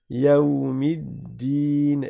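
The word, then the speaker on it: يوم الدين: Le lem on le prononce pas non plus parce qu'il y a une shadda sur le del.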